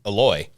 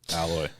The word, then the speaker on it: Aloy: Aloy, sir, Aloy. Alloy. It's not a second L.